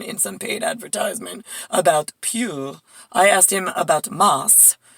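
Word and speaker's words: più: And he's like, oh, it's Pew. I was like, really? How do you spell that? I'm like, P-E-W, like the company that Claudia works for? And he's like, no, it's P-I-U.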